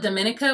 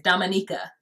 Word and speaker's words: Dominica: My prayers are still over there for the island of, I call it Dominica, but that's not how you say it. It's Dominica. Yeah, the island of Dominica, British and US Virgin Islands.